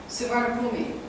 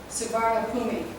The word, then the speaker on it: Suvarnabhumi: Suvarnabhumi. Yeah. So the BH is a P. Suvarnabhumi.